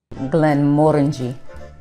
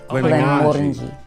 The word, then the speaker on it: Glenmorangie: Glenmorangie. Glenmorangie.